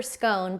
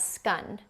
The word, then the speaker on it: scone: And then there is this whole debate about how to pronounce scone, you know, the pastry, I go for scone. But apparently here you can also pronounce it as scun or I don't know if I'm even pronouncing that right, but scone or scun or scn, there's different pronunciations there.